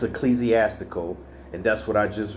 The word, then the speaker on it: ecclesiastical: I just didn't pronounce it correctly. It's ecclesiastical, and that's what I just was reading in regards to of relating to a church, especially an organized institution.